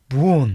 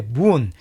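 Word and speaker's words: boon: 자, 그다음 요것은 분. 읽습니다. 문. 이렇게 문. 길게 읽어 주면 돼.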